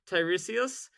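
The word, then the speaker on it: Tiresias: of pure vanilla cookies Also, yes, you said Tyresius. Uh, I'm glad you know how to pronounce his name now.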